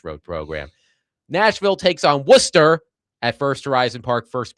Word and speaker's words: Worcester: He might have said Warchester. Worcester.